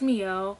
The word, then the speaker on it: Mielle: So the products I use are, I use Mielle, that's how you pronounce it.